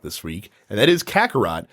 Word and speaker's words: Kakarot: and that is Kakarot whenever I see it a word at an are ot my dumb hockey brain always wants to pronounce it with a row sound so I thought its kokoro at first but it is not in his category i